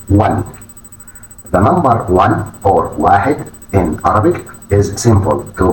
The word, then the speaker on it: واحد: واحد واحد. This is number one. The pronunciation واحد واحد واحد meaning one. The number one or واحد in Arabic is simple to pronounce and symbolizes unity and singularity.